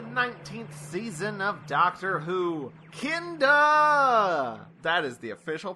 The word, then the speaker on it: Kinda: Today, we're going to be talking about the third serial of the 19th season of Doctor Who, Kinda! That is the official pronunciation.